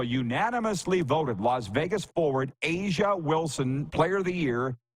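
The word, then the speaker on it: A'ja: gal whose name is spelled a apostrophe ja a a apostrophe ja a is pronounced Asia and I knew that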